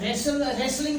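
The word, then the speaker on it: wrestle: तो रेसल में भी अगर आप देखें तो LE से पहले क्या आ रहा है? टी आ रहा है, तो टी को प्रोनाउंस नहीं किया जा रहा।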